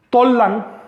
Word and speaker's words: Tollan: Tollan, que es como se pronunciaba antiguamente Tula, Tollan solo quiere decir capital